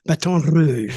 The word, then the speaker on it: Baton Rouge: Oh yeah, Baton Rouge. I love that. The roll the R, Rouge. But I was with the Rock and Roll Express.